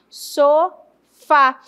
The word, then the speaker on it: sofá: Mesma situação acontece em sofá. Quem é mais forte? O fa. So fa. E aí eu classifico o so como sílaba átona e o fá como sílaba tônica.